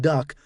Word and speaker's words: DUKW: personnel, and the legendary DUKW, pronounced duck, amphibious truck, and Amtrak